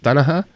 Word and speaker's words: Danaher: I think his surname is pronounced Danaher. He is Gordon Ryan's Gordon Ryan's coach.